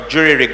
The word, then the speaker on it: jury-rigged: However, so the US version is called jerry-rigged, or jury-rigged as it's pronounced, right?